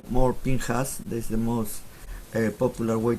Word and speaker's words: Pinchas: in this special portion called pinhas some people pronounce pinejas i like more pinhas that's the most popular way to pronounce it